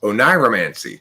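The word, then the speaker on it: oneiromancy: dreams in order to foretell the future is onyromancy wow next time somebody says like i had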